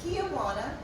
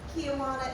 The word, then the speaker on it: Kyajuna: It is Kyajuna, like Tijuana, Mexico, with a K, not spelled like that. The only thing that makes sense on the name tag is Juan. So Kyajuna, if you call me Tijuana, I won't be angry with you.